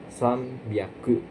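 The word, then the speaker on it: 三百: Jadi seharusnya 300 itu kan sangaku ya. Tapi ini beda, ada pengecualian spesial ya. Jadinya sam biaku pakai biaku dan juga sannya dibaca pakai m sambiaku ya sambiaku.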